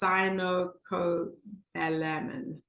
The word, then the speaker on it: cyanocobalamin: And again, here's my pronunciation, cyanocobalamin. That's a mouthful. So it sounds like cyanide, and I can put it in the chat. So it's cyanocobalamin, and that is found in your vitamin B12.